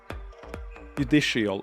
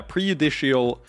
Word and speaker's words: prejudicial: Judicial. Isn't it judicial? It's prejudicial. Yeah, prejudicial is the correct way to say it.